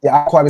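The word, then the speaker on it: יעקב: Yeah I quab right so yquaba bing boom which like awquab is how you pronounce it.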